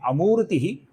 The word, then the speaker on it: अमूर्तिः: फिर अगली पंक्ति का पहला नाम है अमूर्तिः, जिसमें मुंह दीर्घ है, ती ह्रस्व है।